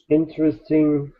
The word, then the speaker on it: interesting: You know, we have the N sound, we have the G, and then we have the N, like sing, interesting.